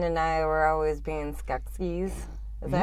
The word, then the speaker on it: Skeksis: Ryan and I were always being Skeksis. Is that how you pronounce it? Yeah, Skeksis.